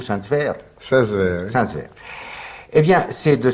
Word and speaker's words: Saint-Sever: Comment prononcez-vous Saint-Sever? Saint-Sever.